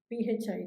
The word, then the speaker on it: phi: PHI. It is pronounced as PHI.